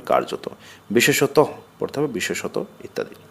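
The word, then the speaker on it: কার্যতঃ: অধিকাংশ স্থলে এটি অনুচ্চারিত যেমন শব্দের শেষে এটি অনুচ্চারিত বস্তুত বিসর্গ কিন্তু পড়া হবে বস্তুত কার্যত পড়তে হবে কার্যত বিশেষত পড়তে হবে বিশেষত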